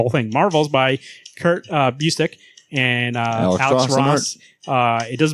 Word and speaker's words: Busiek: So you go, Kurt Busiek.